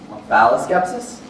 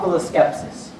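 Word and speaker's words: omphaloskepsis: full of skepsis yes can that also be pronounced bis skepsis if can it would be wrong pul of skepsis o m p h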